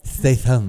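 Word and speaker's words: Statham: like the female Jason Statum that's how you say it though Statum stay thumb stay thumb but whatever it's crazy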